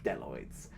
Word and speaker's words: bdelloid: diversity enables populations of bdelloid rotifers to subsist on inorganic ions. Now, I get a lot of questions. First of all, what is a bdelloid rotifer? Well, the B is silent, and bdelloid rotifers are microscopic animals.